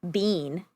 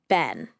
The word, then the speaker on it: been: Bean. No. With the vowel in set. Ben.